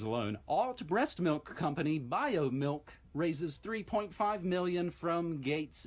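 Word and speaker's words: Biomilq: all food companies include biomilk and it is spelled b-i-o-m-i-l-q and when i referenced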